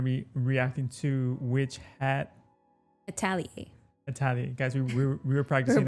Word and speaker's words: Atelier: But yeah, found out it's Atelier. Yeah, we had to Google it just to be sure because we didn't know we didn't know how to pronounce it.